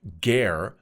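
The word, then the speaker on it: גר: But the gar, pronounced gar, the Hebrew word for sojourer, is not today's illegal immigrant.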